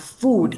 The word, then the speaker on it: food: So food has a it's a long oo vowel sound, food.